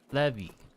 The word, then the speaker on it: Levie: It's not how you pronounce my name. It's Levie. Levy or Levi.